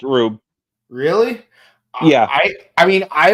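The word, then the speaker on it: R/B: That's how it's pronounced, Rube. Really? Yeah. I mean, I always called it Red Blue, but like it's always like labeled as RB,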